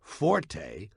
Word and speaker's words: forte: It's pronounced fort. The Italian word forte fo r t used in music notation is pronounced forte and it instructs the musician to play loud.